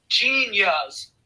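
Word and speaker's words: Jeen-yuhs: documentary and it's called genius let me spell it for you g e sorry j e e n hyphen y-u-h-s so like genius but yeah easy way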